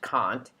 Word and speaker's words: Kant: that is also kant it looks like can't but it's pronounced kant and i'm doing the